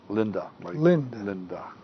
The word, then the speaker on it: Linde: My guest is being Linde. Linda. It's spelled Linde.